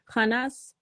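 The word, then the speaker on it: Khannas: When pronouncing the name Khanas, you can hear the final S sound is a hiss. Khanas whispers into the chests of men and incites them to do evil.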